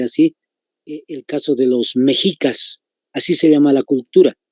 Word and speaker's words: Mexicas: Allá los aztecas, anótense, se llamaban la cultura mexica, con X, igualito que se escribe en México. Mexicas, pero se pronuncia mexicas.